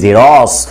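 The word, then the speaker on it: Xerox: আমরা উচ্চারণ করি না, আমরা বলি জেরক্সকে বলি জেরস, তাহলে কটা শব্দের কোথায়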